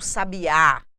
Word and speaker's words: sabiá: se pronuncia a palavra esses exemplos aqui para vocês da questão do sabiá do sabia e do sábia traz para vocês uma mesma palavra quando nós temos uma variação do assento gráfico de posição e